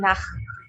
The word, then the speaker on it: Nacht: Esta CH tiene sonido de J.